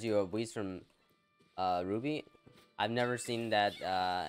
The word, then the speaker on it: RWBY: of it though i i think that's how you say it right you don't say you don't say the letters like w like rwby right wise ah you must